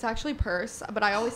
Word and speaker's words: Peirce: or you say purse well it's pronounced purse but it's p-e-i-r-c-e so it's just like